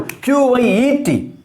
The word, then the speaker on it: quiet: See, take for example, Q-U-I-E-T. Q-U-I-E-T. How do you pronounce it?